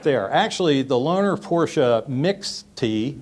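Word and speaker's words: Mixte: actually the loner Porsche mix tee mix tee I believe is pronounced stands for mixed okay so basically a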